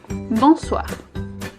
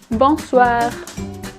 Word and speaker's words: bonsoir: good afternoon for both we use bonsoir in French do you remember that our little nasal sound here of course you do let's try it at home bonsoir bonsoir that's perfect now those file is